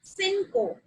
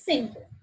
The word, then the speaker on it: cinco: So 5 will be cinco. Okay. Cinco. Cinco. Right. Okay. Because the pronunciation of CI is like C, and then the pronunciation of CO is co. That will be cinco.